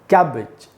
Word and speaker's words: cabbage: उच्चारण नहीं होता, इसीलिए इस वर्ड के 2 उच्चारण हैं, दोनों सही उच्चारण है। आप दोनों में से कोई सा भी कर सकते हैं। पहला उच्चारण है कैबिज, कैबिज, और दूसरा है कैबेज।